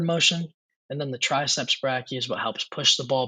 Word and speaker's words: brachii: upward motion so it's not just the biceps brachi uh before I go on here I I did look it up and I guess I was pronouncing it wrong it's actually brachii um I guess some people say bracky but